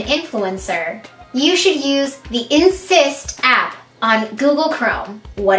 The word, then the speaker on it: Inssist: insist app insist app it is spelled i-n-s-s-i-s-t insist on the insist app